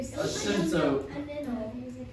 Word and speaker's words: asymptote: Asymptote. Yep, good. Cycle. She wrote it down. That's even better than being able to pronounce it.